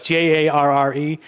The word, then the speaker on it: Jarre: It's so pronunciation. I'm guessing it's Jean-Michel. Yes. Jarre. Yep. It's Jarre.